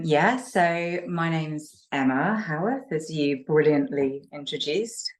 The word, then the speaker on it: Howarth: you do um yeah so my name's Emma Howarth as you brilliantly introduced correct pronunciation um and I'm uh the author of